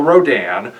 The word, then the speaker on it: Rodan: in singular point is because rodin has always been rad on in japan his official international name is still rodan but radon is the original name so on the list